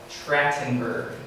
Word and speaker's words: Trachtenberg: And then the third and final marriage was Lyle Trachtenberg. And I looked it up, that's the correct pronunciation for that.